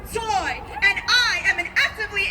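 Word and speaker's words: Tsui: That's T-S-U-I, pronounced Zoy.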